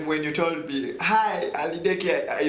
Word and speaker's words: Aliddeki: But the right pronunciation is Aliddeki. Oh yeah. But saying Aliddeki, tuliba Mfrika. So the right pronunciation is Aliddeki.